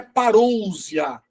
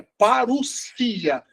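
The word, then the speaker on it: παρουσία: A palavra parousia não é parousia, é parousia, porque nós temos duas regras, o ômicron e o Y, e também o sigma no final, que nunca tem som de Z.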